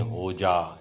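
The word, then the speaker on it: Hodja: गई है, जिसमें नसरुद्दीन होजा, इसका पूरा नाम था नसरुद्दीन होजा। इसमें जो डी है वो साइलेंट होती है।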